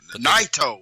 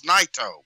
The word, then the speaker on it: Naito: Naito. It's Naito.